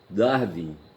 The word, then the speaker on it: Darwin: eh Aqui tá dizendo que a pronúncia certo é com é duble V mesmo certo Darwin e não daram em certo como eu imaginei